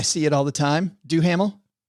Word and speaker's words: Duhamel: Josh, how do you pronounce his last name? I see it all the time. Duhamel? Dumel.